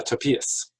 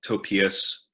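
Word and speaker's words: Topias: one more time it's it's t-o-p-i-a-s it's like a Tobias but with a p okay um and since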